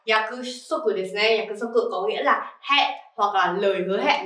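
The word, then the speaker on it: 約束: trong L4 rồi này từ này có cách đọc là yaku souther hoặc là lời hứa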